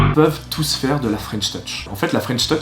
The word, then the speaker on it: French touch: Ah oui, attention à bien le prononcer avec l'accent français. C'est pas French touch, mais c'est bien French touch.